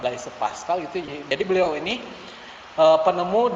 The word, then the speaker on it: Blaise Pascal: Makanya ada rumus atau cara yang ditemukan oleh Blaise, bacanya gimana? B. Pascal gitu. Namanya tuh Pascal, Blaise Pascal gitu.